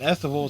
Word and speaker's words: Estival: Then estival says festival is festival without the f.